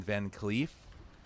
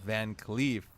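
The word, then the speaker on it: VanCleef: it Edwin or Edward it's Edwin right Edwin van CLE and this is his daughter set to avenge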